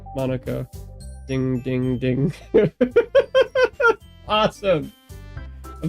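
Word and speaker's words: Monika: Monarchia. Monaka.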